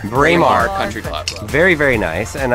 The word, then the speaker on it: Braemar: Braemar Country Club.